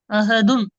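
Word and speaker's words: أَحَدٌ: அஹதுன்.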